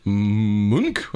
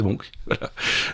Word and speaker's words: Munch: c'est Munch OK et dans Munch prononcé Munk c'est voilà c'est ça c'est Monk n en 1863 à